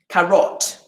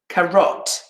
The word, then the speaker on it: carrot: a good one if i don't make an uh in the second syllable and i make an o the strong vowel and i say carrot what's happened carrot correct pronunciation karat if i use the strong vowel carrot carote do you hear how